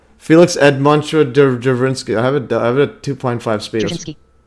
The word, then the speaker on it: Felix Edmundovich Dzerzhinsky: I'm going to see if I can pronounce it here. Can you guys hear this audio? Felix Edmundovich Dzerzhinsky. Okay, see. I'll say it again. Felix Edmundovich Dzerzhinsky. Felix Edmundovich Dzerzhinsky.